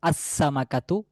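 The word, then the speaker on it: السمكة: তাহলে যদি আমি বলতে চাই মাছটি নির্দিষ্ট একটি মাছ তাহলে সেক্ষেত্রে বলতে হবে আসসামাকাতু এ মাছটি এখানে লামের কোন উচ্চারণ আসবে না তারপরে দেখেনশিন দিয়ে হচ্ছে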